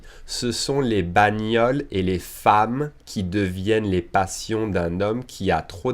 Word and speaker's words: femme: e it's an egg we pronounce it like an a okay fam that femme no fun